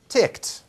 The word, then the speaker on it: ticked: right ticked okay so we have this word with an ed ending but you know it comes out as just a two right no vowel here just ticked ticked okay but with the word Wicked now we have two syllables right one syllable ticked